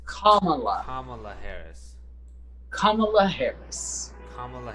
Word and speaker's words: Kamala: There's a correct way. I remember it. It's it's like the pronunciation. Kamala. It's Kamala.